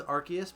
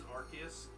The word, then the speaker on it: Arceus: So I think it is Arceus, like hard C. I know that it is Arceus, but I hate that.